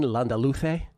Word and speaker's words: Landaluce: On the men's on the men's side today the big dog Martin Landaluce with the Castellano pronunciation.